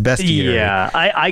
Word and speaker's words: bestiary: dig into the bestiary it always looks like beastiary to me but it's pronounced best year yeah I I call it Beast year even though I kind